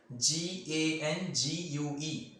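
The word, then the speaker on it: gangue: after that matrix or gang gn gue spell it correctly g-a-n-g-u-e it is known as gang got it matrix again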